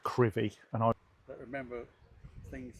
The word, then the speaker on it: Crovie: Welcome to Crovie. A remarkable storm hit the village. It is pronounced Crovie, and I don't remember things that happened really.